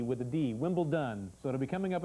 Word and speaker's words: Wimbledon: and i want to correct something it's not wimbleton its wimble done okay it's d with adi Wimble done so to be coming up in a couple